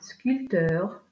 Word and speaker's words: sculpteur: D'un P, un sculpteur, 7, compter. Dans ces exemples, on ne prononce pas la lettre P.